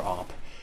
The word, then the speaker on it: AWP: the uh whatam call it the awp or op um and no we're not referring to the